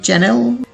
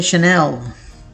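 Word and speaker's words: Chanel: इसे मिस्टेकनली लोग पढ़ देते हैं चैनल, लेकिन अगर आप ये कहते हैं दैट्स रॉन्ग। इसकी करेक्ट प्रोनाउंसिएशन होती है शनेल, शनेल, शनेल। बाय द वे चैनल के अंदर डबल एन आता है, सो you need to differentiate.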